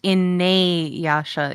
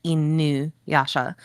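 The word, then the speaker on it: Inuyasha: Um, Dakota is asking me, it's pronounced in nay yasha in Japan, right? No, that is not how Japanese pronunciation works. Japanese pronunciation is actually very restricted and limited. So the the pronunciation would be inuasha.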